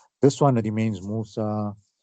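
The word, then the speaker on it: موسى: With the ya without dots, so it's pronounced like this alif as well. So it's just spelled that way, Musa and Isa.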